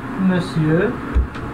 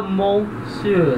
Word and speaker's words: monsieur: Então, monsieur. Agora repara a pronúncia, se escreve com O, né? Mas não se fala monsieur, não, tá errado, é monsieur, com E, monsieur, tá?